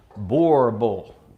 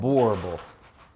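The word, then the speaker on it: Boerboel: pound South African Mastiff, also known as a Boer Bull. I always screw that pronunciation up. Boer Bull. I can't do it. You had it right the first time. Boer Bull.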